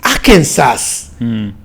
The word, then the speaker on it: Arkansas: And I kept saying, Bryant, the name is Arkansas, but how do you pronounce it Arkansas? So I actually got to learn that there are some things that they are not pronounced the way you read them.